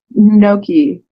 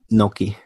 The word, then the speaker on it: gnocchi: It's like gnocchi. So, like, the G is, like, an emphasis on the N somehow?